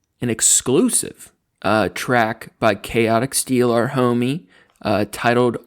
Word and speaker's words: Kaoti: and by the his his name is spelled k a o t i chaotic steel check them out